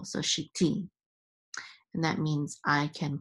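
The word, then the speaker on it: שִׁיתִי: The tevir at the end is the accent for the last syllable. So shiti.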